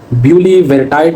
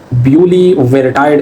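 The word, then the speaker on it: Bulevirtide: ब्यूलीवेरटाइड इसको कहते हैं, या ब्यूलवेरटाइड भी इसको कहते हैं। तो प्रोनाउंसिएशन अलग हो सकती है लेकिन चीज़ सेम है।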